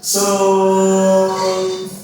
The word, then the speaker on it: sol: Terus re terus mi terus fa sol la si.